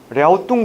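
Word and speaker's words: 랴오둥: 뭐라고? 랴우뚱이라고. 왜? 현지 발음을 표기하는 게 우선이기 때문에. 하지만 우리 공무원이 제일 늦게 가거든.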